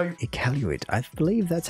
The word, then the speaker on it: Iqaluit: Nunavut, capital Iqaluit.